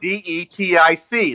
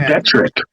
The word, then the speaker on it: geodetic: GEODETIC. That's what I said. But you're saying Don't strawman me. Don't but you're saying strawman me. geodetric. You're saying geodetric.